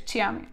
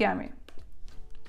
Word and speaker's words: chiami: І читають як Чіамі. Італійці не розуміють, звичайно, тому давайте не будемо припускати ці помилки і вже з першого уроку будемо розмовляти правильно. Тому що моя задача навчити вас правильно вимовляти італійські слова.